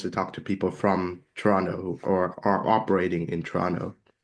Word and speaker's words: Toronto: And someone's from Toronto when they don't say the T. If someone's not from there, they say Toronto. But Mhm. there's a joke, the locals say Toronto, like there's no second T.